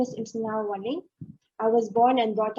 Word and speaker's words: Imsennaro: Imsennaro. Yes, I'm sir.